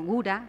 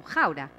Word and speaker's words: Gouda: Acá son conocidos como Gouda, pero en realidad se pronuncia como Gouda.